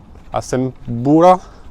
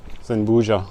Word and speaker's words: Azambuja: Normalement, nous allons jusqu'à Asembura. Asembura? This one? Zembuja, the pronunciation. Yeah. So, we are going today to Asembuja.